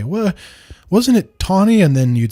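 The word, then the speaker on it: Taney: The reason I'm pronouncing it Tawny and not Teny is because I've only ever heard it pronounced that way, so I assume that's correct.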